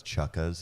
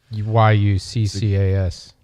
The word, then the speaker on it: Yuccas: If you guys want to check it out, it's Chucka's. It's in Los Angeles on Hillhurst. YUCCAS. Or Yucca's, not Chucka's.